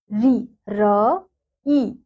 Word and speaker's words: ऋ: ऋ र ई यानी कि जैसे र पे इ की मात्रा होती है। उसी प्रकार से हम ऋ का उच्चारण करते हैं।